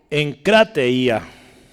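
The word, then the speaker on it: ἐγκράτεια: Y voy a poner acá la pronunciación. Deme un segundito. Esta está más trabajosa. Encrateía.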